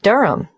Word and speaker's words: Durham: At 1 Uranga Street, Durham. How do you spell Durham? D-U-R-H-A-M. Of course, I should know that. But it's just one of those names that sounds quite different from the way you spell it.